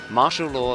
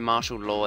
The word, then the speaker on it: Marshall Law: It was reportedly supposed to be a pun on martial arts, as in martial, and martial as in the name, martial as in... Anyway, which is pronounced the same way.